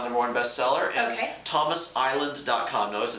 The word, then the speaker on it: Iland: morning best seller Thomas Island calm notice it's IL a nd there's no s that's pronounced like rhode island but no s Thomas Island calm can